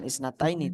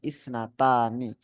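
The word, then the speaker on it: اثنتان: Bukan isnataini tapi isnatani.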